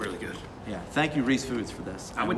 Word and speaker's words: Ruiz Foods: So, fun fact, I was today years old when I found out that it's not pronounced Ruiz Foods. Yeah, it's pronounced Reese Foods, and you And figured you that say out.